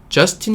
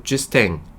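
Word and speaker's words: Justin: 이거 발음 하는거 보니까 어 좌 스팅 이라고 안하고 뒤 스 탱 최후의 다오 라고 발음 하는거 보니까 아 프랑스 일인것 같아요 아 막혀 100 출신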